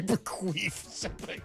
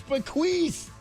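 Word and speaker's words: bequeath: in there didn't say bequaf what Say there's no F in that word, my friend. Derek, no. What? What is it then? It's bequath. Bequath.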